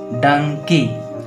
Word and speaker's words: donkey: चलिए DONKEY इसको पढ़ेंगे हम लोग डंकी। आप देखें का मैं यहाँ पे आपका दीर्घ ही लग गया है, दीर्घ ही है ना, बड़े ई की मात्रा लगी है।